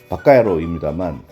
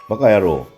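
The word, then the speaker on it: 馬鹿野郎: 원래의 발음은 바까야로입니다만 빠가, 바보, 빠가야로, 바보 같은 놈 등으로 발음이 한국식으로 바뀐 상태입니다.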